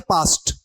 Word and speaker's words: past: ये ध्यान रखना, PAST और PASSED दोनों का उच्चारण सेम है। क्या है? पास्ट। आप बोलते हो ना पास्ट टेंस वाला पास्ट, वही इसको बोलना है, स्पेलिंग अलग है।